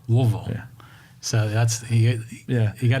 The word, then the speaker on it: Louisville: So how do you say the name? Is it Louisville? Louisville.